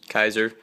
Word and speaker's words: Kizer: guys this is my final review of the Kaiser Cutlery liner lock uh I did find out that is pronounced Kaiser so I didn't know exactly how to pronounce